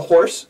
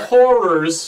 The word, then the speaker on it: The Horrors: And not to be confused with The Horse. No, or Whores. No, we don't want to go that far. The Horrors.